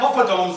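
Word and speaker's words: poppadoms: Right, so I've Popadoms rhymes with condoms.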